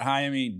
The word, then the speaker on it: Jaime: was great uh jaime so the thing with jaime is it's jamie in english right but uh in spanish the j's and